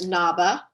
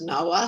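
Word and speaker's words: Ngaba: The town is, we've been discussing this, called Naba, sometimes pronounced Nawa, sometimes pronounced Aba.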